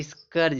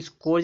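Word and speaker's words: scourge: फिर यहाँ दिया स्कर्ज, इसको स्कोर्ज नहीं पढ़ेंगे, इसको स्कर्ज पढ़ेंगे, स्कर्ज।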